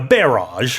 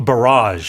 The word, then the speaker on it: barrage: Yeah, it's interesting how in the UK you say a barage. How do you say it? A barrage. So the the stress is on the second syllable.